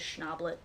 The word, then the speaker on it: Schnablette: personal Twitter which is schnablet you're gonna have to spell that n-a-b-l-e-t-t-e it's based on my last name but it's also like the word owlette which is a baby owl so funny oh no